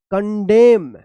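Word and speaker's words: condemn: है आप ध्यान रखिएगा अगर एम और एन एक साथ लिखा गया है किसी भी वर्ड में तो यहां पे एन जो है ना ये साइलेंट रहता है और एम का उच्चारण होता है।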